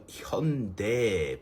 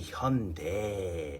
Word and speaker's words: Hyundai: is the pronunciation cuz why does it sound like kung fu? Hyundai. This is a serious matter. This is a very serious matter and I shouldn't be joking about this because the pronunciation should be Hyundai. I would have taken Hyundai. It's what most people pronounce it as. And it makes sense. It ends in a so this is no laughing matter.